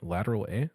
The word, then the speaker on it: Lateral A: Our beer of the week is the Lateral A Juicy Bold IPA by Single Hill Brewing in Yakima, Washington. Did I pronounce that right? Lateral A?